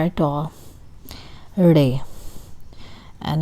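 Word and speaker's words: ڑ: Okay, this is the letter, and this is re. Re. It is somehow between R and D. So re. Re. The name of the letter is written like this, but it's basically not R at all. Re.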